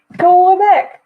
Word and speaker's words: Quebec: All these things are like you have to listen to it, and I don't want to put it on here because it's Quebec.